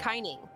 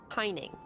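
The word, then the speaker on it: Kaineng: How do you pronounce that? Kineg? Kineg. Kineg? Kineg. Kining. Yeah. Kining. Okay, there's a jumping puzzle somewhere in old Kining, and I cannot find it for the life of me.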